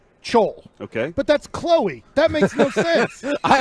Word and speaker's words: Chloe: with with a little c h l o e with a little comma to the top and you think that's chol all right how do